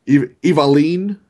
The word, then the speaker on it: Evelynn: Evaline is how you're supposed to say that one.